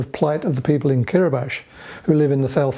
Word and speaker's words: Kiribati: Wikipedia tells us that the Republic of Kiribati, as it is written, or Kiribati as it is pronounced, is an island nation in the Central Pacific Ocean.